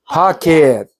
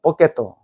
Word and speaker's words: pocket: pocket. Pocket. pocket. pocket 되고, pocket 되고. 근데 이거를 일본 사람들이 어떻게 발음하냐면, 뽀켓도. 그게 대구 말에 남아있더라고. 뽀켓도. 예. 그게 일본 사람들이 영어 발음하는 방위법이거든요.